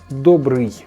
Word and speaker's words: добрый: be really tricky because what I hear is foreign people just make the e sound. Yeah, добрый. No, instead there are two sounds. First one is I don't know how to spell that correctly. And the last one is y. So together it's like добрый.